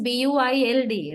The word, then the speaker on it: build: okay first one is BU i l d right that is the word so we pronounce the word as build build the word don't let the spellings trouble you okay spellings are there